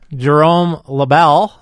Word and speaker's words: Jérôme Lebel: Today, I'm with one of my best buddies, Jérôme Lebel. Hey. That's how I pronounce this French name in English.